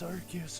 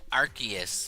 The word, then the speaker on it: Arceus: So, do you pronounce it arc or arse? I think legally, the answer is arc.